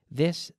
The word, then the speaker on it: this: Be careful with the pronunciation. This, esta, this, Ese es un sonido que no existe exactamente en español, en castellano.